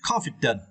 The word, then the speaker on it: confident: and for this verse you need to stretch the first syllable con okay confident okay confident it is